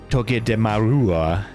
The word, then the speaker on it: Togedemaru: Togedemaru. You know, the R in Juarez. Like that. Is the Japanese way.